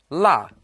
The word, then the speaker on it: 落: Now this character can also be pronounced luo, but here it's pronounced la, to lose or misplace something.